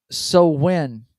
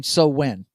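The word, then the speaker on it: Samhain: Uh, Von Headbanger says, actually pronounced so when truth. Oh, okay, gotcha. Um, he's talking about that. Sam Hain so when is what it's Okay, they I got you.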